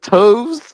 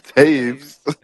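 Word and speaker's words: Toews: pronounce his name right you said toes I said no it's Taves before I made my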